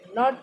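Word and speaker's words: knot: के कॉमन है, बिकॉज नी हो गया, नाइफ हो गया, नॉट हो गया, नाउ हो गया, इसके अंदर के तो कहीं हमें सुनाई नहीं दे रहा।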